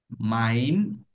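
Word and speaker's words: mein: মাইন, ই আই একসাথে থাকলে আই এর মতো উচ্চারণ হয়, আমরা উচ্চারণের রুলস পড়েছিলাম।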